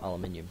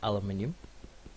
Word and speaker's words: aluminium: Me being British, the correct way is aluminium, but I'm going to pronounce it aluminum because I don't know why. I prefer it being called aluminum. Sounds better than aluminium.